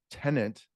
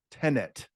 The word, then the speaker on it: tenet: intent manner matter matter was tenant tenet you got to say it right because then you spell